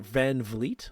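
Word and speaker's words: VanVleet: few other little things Fred Van is it Van Vleet that's his how you say the name yep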